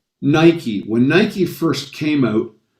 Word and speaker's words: Nike: us in north america we would have called it nike because it because it looks like like right or mike but it's nike after a while they